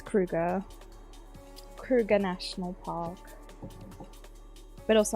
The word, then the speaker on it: Kruger: So, an Afrikaans person told me that the name in South Africa was supposed to pronounce it like Kruger with a K, but like I'm very English, so it's Kruger.